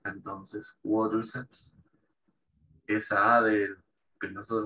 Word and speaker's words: quadriceps: Esa A, ellos la pronuncian como una A. En inglés británico es como una O. Quadriceps. Ahora, en inglés americano sí se pronuncia como una A larga. Quadriceps, dicen ellos.